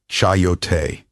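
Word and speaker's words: chayote: First, meat coyote, pronounced chyote.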